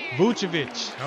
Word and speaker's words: Vucevic: Vucevic.